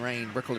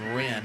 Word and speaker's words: Wren: Brooklyn Wren, and all week long in show prep, it was Brooklyn Rain, but no, it is Brooklyn Wren. R-I-N is how they pronounce it.